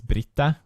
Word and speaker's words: Britta: And then my other teacher name was Britta, which rhymes with fitta, which rhymes with which is vagina.